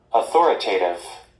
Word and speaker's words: authoritative: Esse apóstrofo para cima, essa virgulinha entre aspas para cima, ele indica qual que é a sílaba tônica principal e esse aqui qual que é a segunda sílaba tônica. Então, assim, ele tem duas sílabas tônicas. Então, a sílaba mais forte é aqui.